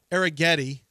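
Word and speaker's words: Arrighetti: tonight well John Spencer arag Getti which rhymes with spaghetti is pitching for the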